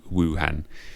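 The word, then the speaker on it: Wuhan: other city han han han is the correct pronunciation of then Wu Wu Han yes such as the deception of opinion I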